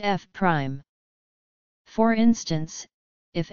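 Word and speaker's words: f′: function called F is denoted by F pronounced F Prime for instance if F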